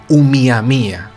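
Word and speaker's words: ʻOumuamua: en lengua hawaiana pues se llamaba miami a se escribe pero se tiene que decir un miami a muy bien y esto que significa en lengua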